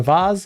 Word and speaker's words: vase: in the shape of a vase or vas if you pronounce it like that and it has like